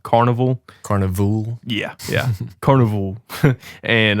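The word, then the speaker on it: Karnivool: pick this week is Goliath by the band Carnival okay so it's spelled k a r n i v o o l Carnival Carnival yeah yeah Carnival and the song is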